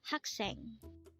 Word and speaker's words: 학생: the Korean term for a student again it's hakseng how do you write haksang in Hangul this is composed of two syllables for the first syllable hack we need